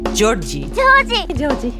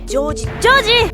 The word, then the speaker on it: George: Su verdadero nombre es Joji, pero él quiere que lo llamen George, solo que en el anime lo pronuncian más como Georgie. Georgie.